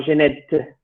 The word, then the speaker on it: Genette: A nuestro oído hispánico nos suenan igual, pero en principio para un francés deberíamos pronunciar el primer nombre como Genet y el segundo como Genette.